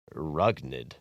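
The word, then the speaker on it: Rougned: It's pronounced Rugnid.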